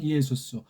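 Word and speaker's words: Ἰησοῦς: 기도 하고 오늘날까지도 이에수스 헬라 말 발음대로 하면 이수스 구에 있는 남말 하게되면 예호슈아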